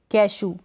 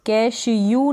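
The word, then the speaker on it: cashew: तो कैशू मतलब काजू, इस स्पेलिंग में हम ई डब्ल्यू को ऊ पढ़ेंगे कैशू, कैश यू नहीं पढ़ेंगे, यू वाला साउंड नहीं आएगा, मतलब ये वाला जो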